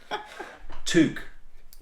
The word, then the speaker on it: toque: Toque. Did I say that? That's how Canadians would say it.